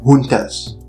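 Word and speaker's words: juntas: them being described as military Hunters you know spelled with a J military hunters and the word Hunter you know is Spanish right and it's what is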